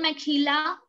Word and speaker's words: mejilla: Again, it's not mejilla. Okay, it's mejilla.